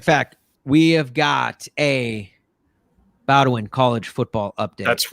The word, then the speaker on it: Bowdoin: Bowdoin.